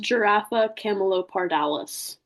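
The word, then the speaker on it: Giraffa camelopardalis: It is pronounced giraffa camalopardales.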